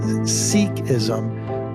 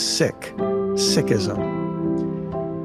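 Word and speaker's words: Sikhism: name is Valerie core many people pronounce the name of her religion as seism but Valerie taught me that its proper pronunciation is sick sism in our last episode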